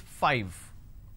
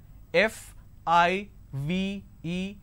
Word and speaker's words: five: five all right now the pronunciation is 5 f i v e five so I need to I need to you bite my lower lip to end the word it's five the second one is